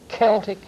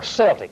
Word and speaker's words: Celtic: They represent what we call the Celtic fringe. I see. Or Celtic fringe. Right. You may pronounce that either way.